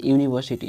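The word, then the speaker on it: university: यहाँ देखिए यूनिवर्सिटी, यहाँ भी यू से शुरू है ना, जो भवेल से शुरू है, लेकिन उच्चारण होता है यूनिवर्सिटी, यानी कि यूनिवर्सिटी।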